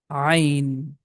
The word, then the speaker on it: ع: The name of this letter is Ain. Letter Ain comes from the middle of the throat. Ah sound it has. That's tricky sound because we do not have equivalent sound in English.